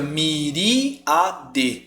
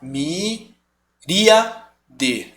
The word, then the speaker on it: miríade: ele consegue se separar então fica myriad se você falar você vai perceber que você vai dar uma pausa aqui em trio a miríade você não vai falar me dia de até difícil eu nem sei que pronunciasse fosse junto tá então o ar ele tem essa autonomia sonora em relação ao I Beleza então ele vai se separar myriad beleza por isso é